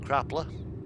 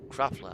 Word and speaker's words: Krafla: And up towards the top end of the island you've got Krapla, or Krafla as it's spelt.